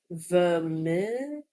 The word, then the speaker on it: Vermeer: In Dutch, this is pronounced Vermeer.